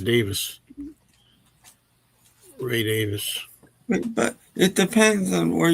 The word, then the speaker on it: Davies: Speaking of pronunciation, I've heard that Ray Davies' name is supposed to be pronounced Davis.